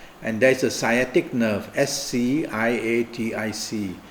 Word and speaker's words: sciatic: there's a sciatic nerve s c i a t i c is pronounced as sciatic and the sciatic nerve